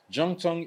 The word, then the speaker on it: Zhongtong: Zhongtong is Z-H-O-N, like a Zong Tong, but it's pronounced as a J.